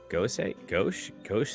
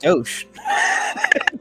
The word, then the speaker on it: gose: Gauche? What? How the fuck do you say it? It's pronounced gauche.